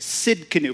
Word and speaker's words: Tsidkenu: we're talking about Jehovah I'll tell you how to say it Sid canoe forget the T in front of it we'll throw that on